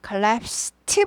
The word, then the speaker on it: collapsed: collapsed 발음이 납니다. 원래는 드지만 collapse가 무성음이기 때문에 무성음, 목소리가 울리지 않는. 그래서 무성음화돼서 collapsed 하지 않고 collapsed.